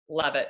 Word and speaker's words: Levitt: Levitt. Did I pronounce that right?